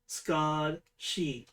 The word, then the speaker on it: Scathsidhe: You do also find with your 19, others have been heard for them to be called Skashi. And to spell that, it is SCATHSIDHE. SIDHE, that's she. Yeah, Skad She.